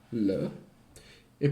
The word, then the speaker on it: les: Giusto, diceva, l'articolo singolare, determinativo, allora per il maschile è le, pronunciato l, e per il femminile è la, pronunciato la. E invece il plurale determinativo è per entrambi les, pronunciato le.